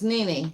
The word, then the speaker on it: Nene: You were saying it right. It's Nene. It's Nene. Yeah. Like a knee, she said.